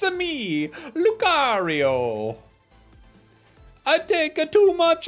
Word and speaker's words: Lucario: Today, I realized Lucario rhymes with Mario. That's true. It's a me, Lucario.